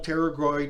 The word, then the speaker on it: pterygoid: There's what's called the external pterygoid and internal pterygoid. It's actually spelled like a P, like a pterodactyl.